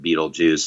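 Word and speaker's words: Betelgeuse: I don't know if it's a pun exactly, but the idea of that we would take BeetleGuice but pronounce it BeetleJuice, and then we changed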